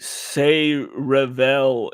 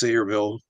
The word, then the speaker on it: Sayreville: No, they also mentioned uh the Say Revel incident. What's that, Conrad? Hmm. I was gonna say it's pronounced Sayreville, but Sayreville.